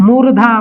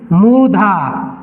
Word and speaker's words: मूर्धा: मूर्धा, मुर्दा नहीं, मूर्धा।